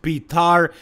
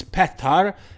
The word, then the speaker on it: Petar: to pronounce his name so it's not pitar it's not peter it's pethar and his last name